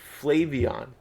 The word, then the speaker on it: Flavien: Flavian. Am I pronouncing it right? Yeah, that that's about right. Like Flavian usually said you got a lot of chicks with that name, didn't you?